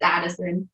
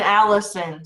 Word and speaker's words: Addison: It's Addison. Addison. I was thinking Allison, so.